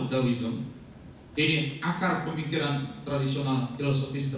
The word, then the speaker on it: Taoism: tidak ada reinkarnasi daoism meskipun tulisannya pakai T taoism dibacanya da dawiism ini akar pemikiran tradisional